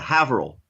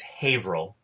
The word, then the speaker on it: Haverhill: So, I will say, by the way, that firstly, it's Haverhill. No, I'm always going to pronounce it Haverhill.